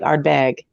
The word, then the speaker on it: Ardbeg: And I have to say, and I've always said Ardbeg, but they kind of like put the accent on the second end of it, like Ardbeg, like for more and Ardbeg.